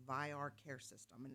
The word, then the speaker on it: Vayyar: It's pronounced VAYAR Care System, and it's going to be a game-changing technology within our care industry.